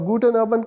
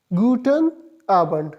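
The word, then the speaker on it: Guten Abend: Simply अगर single आपको कहीं आबंड नजर आ जाए तो इसका मतलब है इवनिंग और गुटन आबंड का मतलब है गुड इवनिंग। सो इसको प्रोनाउंस किस तरह कर देंगे? गुटन आबंड सिंपली गुटन आबंड।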